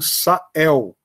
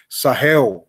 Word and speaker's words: Sahel: deserto do Saara é uma região conhecida como sael ou uma pronúncia mais típica deles sahel né porque que é importante refloresta ela mesmo